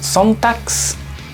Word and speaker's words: Sonntags: G al final, recuerden que suena k, entonces sería Sonntags. Y para cerrar, la combinación QU, lo mismo que para nosotros en español, quark, sin problema.